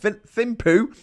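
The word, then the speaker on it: Thimphu: know that cam the capital is called thimpu uh but i don't think it's pronounced poo um but like you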